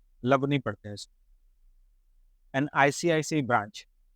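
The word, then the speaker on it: ICICI: love नहीं पढ़ते एन आईसीआईसी branch N आईसीआईसी employee इसको इक्की इकी नहीं पढ़ते है एंड आईपीएल प्लेयर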